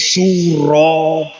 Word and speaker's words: Suro: Namun, orang Jawa kesulitan mengucapkan Asyura, sehingga dalam bahasa Jawa diucapkan Suro.